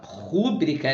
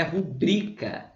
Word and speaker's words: rubrica: É a mesma coisa rúbrica, né? Não existe a palavra rúbrica, a palavra é rubrica. Mesma coisa com rúbrica. Não é rúbrica, é rubrica.